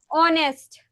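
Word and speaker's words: honest: यहां पे H silent है। एच आपका शुरू हो रहा है बेटा किससे? एच आपका शुरू हो रहा है कोसोनेंट से। लेकिन हमने ऑनेस्ट पढ़ा इसको। क्यों? क्योंकि प्रोनंसिएशन इसकी ऐसी है।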